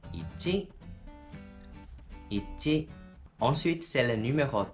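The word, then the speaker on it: 一: Et ça, il est prononcé en mandarin i. Et en japonais, ichi.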